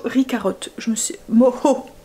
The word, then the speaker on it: mojo: Moho. En fait, ça s'écrit M-O-J-O, mais on dit Moho.